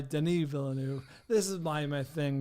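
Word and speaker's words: Denis Villeneuve: for years I believe I've been pronouncing Den Vu wrong as Dennis Vu yeah now everything I time I see a behind the scenes with uh Brolin or whoever about some Vu project he just refers to him as Deni so I think the this French Canadian fellow goes by Deni villanu this is my my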